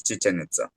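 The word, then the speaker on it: Chichén Itzá: So at Cananken in Mexico, you found your uh I found your descriptions of the sinkhole and Chichanza. Is that how you uh pronounce it? Yeah, it's Chichanita.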